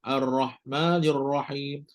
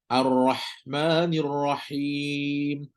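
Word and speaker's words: الرحمن الرحيم: salah HAM ni oke nombor dua membacanya dengan HAM Ham tapi lemah arrahmanirrahim arrahmanirrahim kena bagi lebih sikitlah dah dia pun hams kemudian pula dia pula rakhawah Betul tak Ha ni kan lebihkanlah sikit arrahmanirrahim Rah Rahman jangan putuslah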